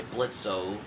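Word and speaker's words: Blitzø: for short led by blitzo because the O is silent as well as the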